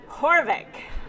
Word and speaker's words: Haavik: our most fabulous guests it is Dr Heidi horvick because everyone always pronounces her name wrong so I love being